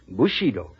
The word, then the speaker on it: Bushido: Bushido. Am I right about the pronunciation, interpreter?